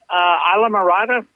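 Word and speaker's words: Islamorada: And I believe it's pronounced Isla Mirada, Florida.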